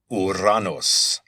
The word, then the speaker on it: Uranos: The word that's used here that I'm translating as sky is Uranos. It's where we get the unfortunate planet name Uranus or Uranus. That was the Latin pronunciation of the Greek word for this god.